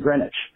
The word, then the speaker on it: Greenwich: Same with the London neighborhoods that look like Southwark and Greenwich, which are pronounced Southwark and Greenwich.